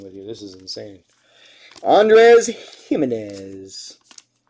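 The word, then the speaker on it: Jiménez: Andres Jimenez. Looks like a G, pronounced like a J.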